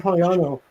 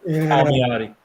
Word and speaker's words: Palmiotti: But Jim Poliano, I cannot say his name. Palmiotti.